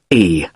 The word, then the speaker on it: Carlisle: Sorry. It's Carlisle. You don't pronounce the S.